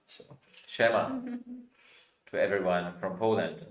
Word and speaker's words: Siema: Shema? Siema.